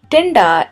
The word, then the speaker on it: tinda: recipe for bharava tinda tinda is an extremely difficult word to say if you're not familiar with hindi or any other indian language and you're trying to pronounce this then i wish you the best of luck you have to roll back your tongue and hit the t like in the word totally not the word mat or you could just